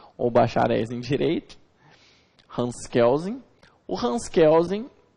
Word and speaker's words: Kelsen: jurista alto austríaco hans kelsen hans kelsen hans kelsen como alguns preferem que de acordo com alguns doutrinadores a pronúncia mais correta no alemão seria que causem e não quer ou